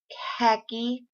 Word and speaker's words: khaki: left that word out, because I kind of hear the H sound, khaki, but they say it's silent.